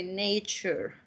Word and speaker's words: nature: we can say uh most of the words that ends with ture are pronounced like chair chair paladin contour future culture